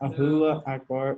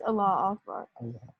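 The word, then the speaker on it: Allahu Akbar: Ahula Akbar is on fire. Oh my God. How did you call it? Wait, Johanny, how do you say it? Ahula. Alua? Aloha. Allah. Oh, no. It's Allah Akbar.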